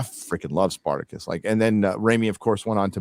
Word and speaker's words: Raimi: Did I say Sam Raimi wrong? Raimi. Yeah, I said it wrong.